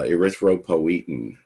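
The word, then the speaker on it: erythropoietin: in the body uh erythropoetin is how that's pronounced arthro means red and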